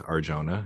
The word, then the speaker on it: Arjona: I almost felt that Adriana, is it Arjona? Jonah? How do you say your last name? I believe it's Arjona.